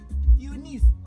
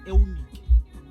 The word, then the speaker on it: Eunike: Eunice. That's a white people's pronunciation. As we don't work like that. Yeah? Your name is Eunike.